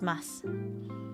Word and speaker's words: ます: In everyday spoken Japanese, the final u in words containing mas is silent and the word is pronounced as mas.